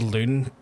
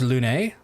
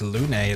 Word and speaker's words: Lune: I thought she was called Loon until earlier today, by the way. I think it's pronounced Lune, but it is like, it's spelled exactly how you spell it. I think it's pronounced Lune. I think.